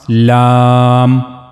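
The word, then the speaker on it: لام: So that's how you have to pronounce lamb lamb.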